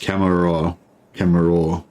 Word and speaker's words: Commorragh: cooldown will be um I Heard it pronounced camera raw yeah that sounds it's not like that sounds right um actually I know